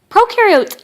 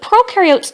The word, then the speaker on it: prokaryote: do have membrane-bound organelles, and prokaryote, the pro rhymes with no, and they do not have membrane-bound organelles.